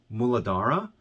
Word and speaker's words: Muladhara: the root chakra in sanskrit is understood or pronounced as muladhara and it is known as the root chakra